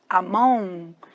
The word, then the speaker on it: among: Among. Quase não pronuncia o G, não é among não, viu?